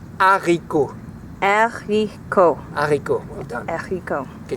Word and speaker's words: haricots: In French, they're called haricots. Haricot. Haricots, well done. Haricot. Can you repeat at home? Haricot. It's just 3 syllables, it's pretty easy.